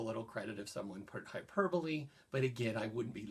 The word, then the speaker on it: hyperbole: is some and by the way George we pronounce it hyperbole I know it's spelled hyperbole but it's a weird word pronounced hyperbole and that just means something that's an exaggeration